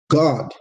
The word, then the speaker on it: Gad: God in the Hebrew. Not G-O-D, but God. That's how you say it, God, but G-A-D.